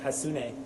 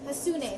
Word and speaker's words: Hassouné: Hassouné. Hassouné. So Jade Hassouné. It's kind of how you spell it, right? Yeah, exactly.